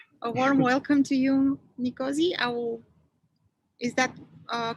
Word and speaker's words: Nkosiyazi: right yeah king a warm welcome to you nicosia is that a correct pronunciation or it's just uh